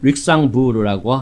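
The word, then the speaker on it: Luxembourg: 상원이 사용하는 건물은 룩셈부르크 궁전을 사용하는데요. 프랑스 발음으로는 릭상부르라고 한다고 합니다.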